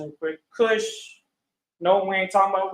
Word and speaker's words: Cush: Cush. No, we ain't talking about weed, all right? Okay, don't smoke weed. Not potheads. The son of Ham, Cush, Kawash, means black.